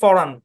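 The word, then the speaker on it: foreign: শেষে জি এন আছে শব্দের শেষে এবং জি টা সাইলেন্ট এই শব্দের উচ্চারণ হচ্ছে অরজিনালি উচ্চারণ হচ্ছে ফরান ফরান অরিজিনালটা বাদ দেন আমরা নরমালি বুঝি ফরেন ফরেন বুঝেন ভিনদেশী আমরা বলি না ফরেন কান্ট্রি বলি না এ হচ্ছে ফরেন জি টা সাইলেন্ট হ্যাঁ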